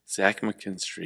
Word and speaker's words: Zach McKinstry: is that how you say it robertson cano zach mckinstry yep one of the funny things about gypsy